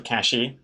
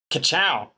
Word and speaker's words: kachow: It's not cash or cashy. It's pronounced kachow.